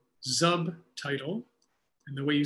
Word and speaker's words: Zubtitle: There's a tool called Zubtitle. And the way you spell that is with a Z. It's like subtitle with a Z.